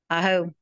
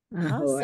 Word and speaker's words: aho: So, aho, oba. Oh, aho. Ahoy. Awesome. There you go, Grandma. I said ahoy. It's the biggest mispronunciation I ever taught. Oh. How can you get ahoy out of aho?